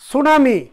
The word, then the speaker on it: tsunami: এরপর হচ্ছে সুনামি, সুনামিটাকে ইংলিশে বানানটাই ভাবে TSUNAMI সুনামি।